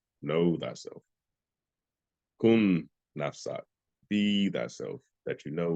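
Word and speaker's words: نفسك: The last part, is it N-A-F-SAT, S-A-T, Nafsat? It's going to pay attention. Yes, it's nafsak. The last word is N-A-F-S-A-K.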